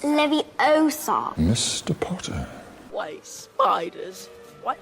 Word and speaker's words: Leviosa: a wizard harry you're saying it wrong it's leviosa mr potter why spiders why can't we follow